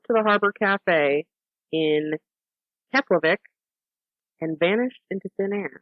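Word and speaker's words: Keflavík: his home drove to the harbor cafe in keplervik and vanished into thin air very good that's an exact pronunciation it is you know yeah um his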